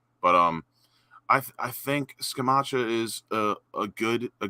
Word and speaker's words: Scamacca: you pronounce the guys i think it's s scamacha i think that's the italian way i swear to god